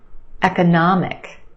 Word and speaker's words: economic: Economic, economic. We've got 4 syllables. The third syllable is your stressed syllable, na, the ah sound, economic. And we have a schwa in the second syllable, ka, ka, eka, eka, economic. Benefit, benefit.